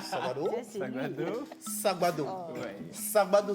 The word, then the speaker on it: Sagbado: Non, il faut appeler comme Sagbado. Serge oui, mais là, c'est compliqué. Hein. Sagbado. Ça, c'est lui. Sagbado. Sagbado.